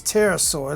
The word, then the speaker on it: Pterosaur: I'm sorry, it's Pterosaur. Let me see how you spell it.